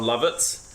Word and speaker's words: Lovitz: The second thing you get to see from Jon Lovitz is... I like that you looked to me for approval. Is that how you pronounce his name?